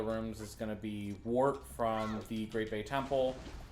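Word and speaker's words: Wort: Wart. When I think Wart, I'm thinking Super Mario Brothers 2. Nope, it's spelled differently.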